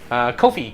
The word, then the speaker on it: Ko-fi: The only thing that I got left is, I mean, you started a coffee, or what is it pronounced? Coffee or Ko-Fi? Ko-Fi, K-O-F-I, or whatever it is.